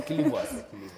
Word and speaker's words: Kilivwas: Is it the Kilivwas? Or, how do you say that name? The Kilivwas. Yes.